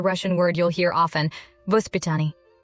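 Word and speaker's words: воспитание: Vospitaniye. There's a Russian word you'll hear often, Vospitaniye.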